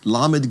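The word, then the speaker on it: lamed: Lammed gets the sound or the L sound. And so it's going to be the sound that would be at the beginning of the word say like lemon l.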